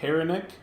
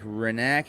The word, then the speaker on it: Haranek: vitrifly all right mike haranek we got mike renek yep the h is silent oh man i finally